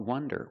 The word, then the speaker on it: wonder: Now let's talk about wonder with the closed sound. Wonder.